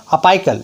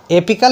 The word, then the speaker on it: apical: कोई लोग बोलते हैं अपाइकल, ये गलत है, एपिकल मेरिस्टीम बोला जाता है। शुद्ध प्रोनाउंसिएशन क्या है? एपिकल मेरिस्टीम।